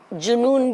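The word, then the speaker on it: जुनूँ: उर्दू शेर के सही पठन के लिए यह आवश्यक है कि जिन शब्दों के ऊपर अनुस्वार हो उसका उच्चारण वैसा ही किया जाए। जैसे जुनून भी बोलते हैं। ठीक है? वो गलत नहीं है।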